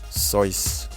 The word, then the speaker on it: Seuss: barber bled the patient dr. Seuss pronounced his name sois after his death in